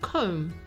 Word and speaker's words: comb: to a silent k b is also silent before T and also after M for example doubt tomb lamb or comb the letter W gets